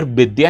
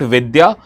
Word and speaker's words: Bidya: That is why you'll hear Bengali people pronouncing it as bidya not vidya or they are pronouncing jugar and not yaj because the letters y and v is not present in the bangali alphabet.